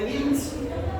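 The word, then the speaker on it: Wilms: Bien, entonces de esa neoplasia vamos a ver el tumor de GMS, que lo correcto es pronunciarlo como también es alemán.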